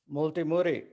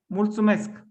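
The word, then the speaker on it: mulțumesc: this in our journey multi murray did i say it correctly uh if you want to say in roman in romania in romanian if you want to to thank you can say multumesk okay fabi let's see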